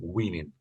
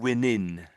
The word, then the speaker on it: winning: years later he's still winning. Yeah. Yeah. Okay. That's good. A little bit sort of winning. So I think sort of the the NG sound was missing a bit on the end.